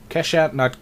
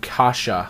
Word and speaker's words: Kasha: Kesha, no, Kasha, I think is pronounced like that.